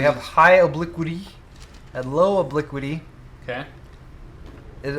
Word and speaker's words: obliquity: high obliquity and low obliquity okay is am I pronouncing obliquity correctly obliquity you have to be obliquity there's no other way to pronounce that yeah so um you